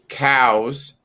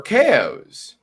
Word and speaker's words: Chao: it's you know c-h-a-o if you're pronouncing it with a hard c sound it'd be cow right and i'm sitting